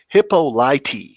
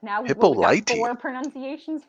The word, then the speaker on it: Hippolyta: gibson says what is what it's not hippolyte interesting hippolyta yeah okay it's just gonna